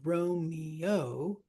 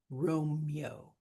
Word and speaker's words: Romeo: So Romeo can be three syllables, but can also be Romeo, two syllables.